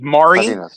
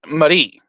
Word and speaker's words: Mari: Uh when me and my kids, we refer to her as Mari. M A R I. Mari. But that's because m a r i in Spanish or uh the Mexican Spanish pronunciation is Marie.